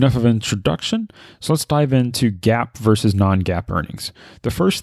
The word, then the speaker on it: GAAP: so let's dive into gap versus non-gaap earnings the first thing to understand is what does gaap mean gap is spelled g-a-a-p and it stands for